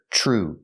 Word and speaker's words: true: a crime that's true we hear TR R and true make the sound CH like chicken plus the r TR true true that's true but they'll